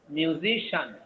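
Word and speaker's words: musician: Xi'an বলা যাবে না, শান। মিউজিশিয়ান।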